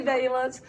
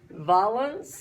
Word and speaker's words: valence: valence electrons I say valence people from New England say violence I think you're from Connecticut and that's how you say it fine but I say valence because I'm from Atlanta okay and so um we're